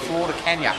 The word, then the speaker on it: Flor de Caña: There's a rum from Nicaragua called Flor de Caña. It means flower of the cane. Okay. If you don't say it right, it means flower of the dog.